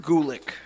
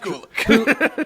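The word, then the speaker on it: Gulak: accepts Lesnar's Challenge and by the way is pronounced Gulick it's pronounced Gulick who actually is really they are good who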